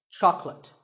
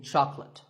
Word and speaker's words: chocolate: this at the store make sure that there are only two syllables Chuck and let chocolate and remember there's no late in chocolate speaking of chocolate how